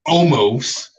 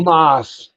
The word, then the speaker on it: Omos: No, It's not almost. it's He, Omos. he said almost.